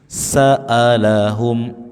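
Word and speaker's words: سألهم: sin sa faujun faujun Saalahum a hamzah tegas jangan dibaca mirip alif.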